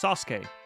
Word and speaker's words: Sasuke: is our friend Sasuke. That's how you say it. Like not Suzuk, it's Sasuke.